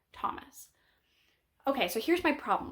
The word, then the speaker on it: Thomas: we talk about how the H is silent in the word Thomas okay so here's my